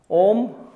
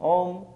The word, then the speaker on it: Om: Some people pronounce it syllabally, as the words say A, U, so they pronounce it Aum, Aum.